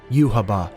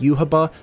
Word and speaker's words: Yhwach: the quincy's name finally youhaba i know there's not much of a consensus around how his name is pronounced in the video games it seems to be pronounced youhaba so we'll go with that but my god it